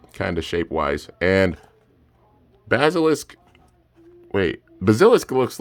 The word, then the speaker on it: Bazilisk: Hydra kerbius and fierce uh basilish I think that's how you say it or is that a k the H and K are so similar to text wise uh basilisk okay Fierce basilisk oh that's an